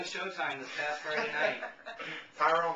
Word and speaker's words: Tyron: evening uh congratulations to Tyrone Woodley welcome Tyrone thank you thanks for having your first fight on Showtime this past Friday night Tyrone like Byron huh Tyrone what did